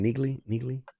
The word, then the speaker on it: Neagley: Neagley. That's how you say her name. Neagley. Yeah, Neagley's at Wrigley. Neagley at Wrigley.